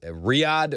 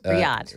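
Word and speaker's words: Riyadh: Riad. Riad. Yes. Riyad. Riad. For the record, I asked Joan Jones how to pronounce that before the show.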